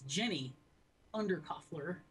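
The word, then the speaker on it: Jenny Undercofler: I got her name wrong. It's Jenny Undercuffler.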